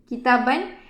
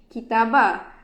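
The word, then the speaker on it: كتابًا: Kitaban, dia punya silent letter iaitu pada alif di hujung perkataan. Kita silentkan alif tu. Kita tak baca dengan kitabah.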